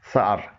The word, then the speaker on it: sour: اسے عام طور پر لوگ سور بولتے ہیں جو غلط پروننسیشن ہے. اس کی درست پروننسیشن ہے سار.